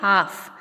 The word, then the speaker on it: half: Next spelling है हाफ. HALF हाफ. HA हाफ, तो एल का ल का साउंड नहीं आ रहा है, सो इसलिए इसमें एल साइलेंट है.